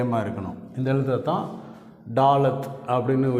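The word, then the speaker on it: ד: இந்த எழுத்தை தான் டாலத் அப்படின்னு உச்சரிக்கிறோம்.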